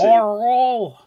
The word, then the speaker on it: Arl: Oh, Arl. Arl. Like Carl without the C. Arl.